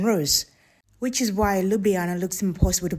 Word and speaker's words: Ljubljana: So instead of saying it like two separate letters, you'd say it the way you would blend an L and a Y in English.